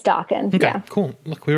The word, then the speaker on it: Daken: And how do you pronounce his name? Daken? It's Daken.